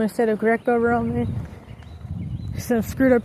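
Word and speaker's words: Greco-Roman: I was saying Greek Roman instead of Greco Roman. Some screwed up pronunciations, but this I had this like kind of backwards.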